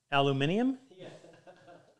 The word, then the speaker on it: aluminium: silver colored metal lead no a aluminium that's the British way and where and where